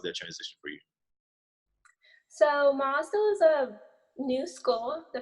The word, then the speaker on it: MOSDOH: What do you guys pronounce it? MOSDOH, right? MOSDOH at ATSU?